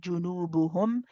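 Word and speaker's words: جُنُوبُهُمْ: In the same way, we have to do the same thing with junubuhum. Again, idhar shafawi, same thing, nice and clear.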